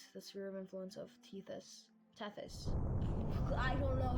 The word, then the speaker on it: Tethys: So yeah, now we exit the sphere of influence of Teus. Teis, I don't know how you pronounce that.